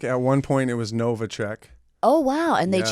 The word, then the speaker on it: Newacheck: Am I saying it right? Newacheck? Yes, you are. Okay, great, because it's Polish. It's like Czechoslovakian. Okay, all right, close enough, Yeah, right? yeah. Furry hats. Newacheck.